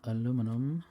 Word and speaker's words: aluminum: I need more aluminum aluminium depending on where you pronounce it and who might be angry about it there's some aluminium I